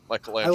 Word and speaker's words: Michelangelo: Well, because it was the the Italian pronunciation of the artist, you know, Michelangelo.